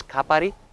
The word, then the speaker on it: Kapari: But personally, I prefer to watch the sunset from a not very well-known beach, which the name is Kapari. Okay. How do you spell that?